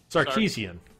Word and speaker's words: Sarkeesian: Kovar says it's pronounced like sardines. Sarkeesian. Sarkeesians. Oh, like sardines with like a K in it.